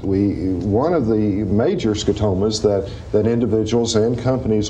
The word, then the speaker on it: scotomas: spots we had mentioned the the last program scotomas this is an interesting concept an interesting term it's spelt s-c-o-t-o-m-a-s it's a latin word meaning a